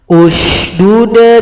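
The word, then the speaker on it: اشْدُدْ: Tapi kalau kita potong, Haruna akhi, cara mulainya hamzah wasl kita baca. Bagaimana cara bacanya? Lihat huruf yang ketiga, 1, 2, 3. Patokannya huruf dal. Kebetulan sini dalnya dhamma, maka di sini u. Di sini du, maka di sini u. Ushdud bihi azri.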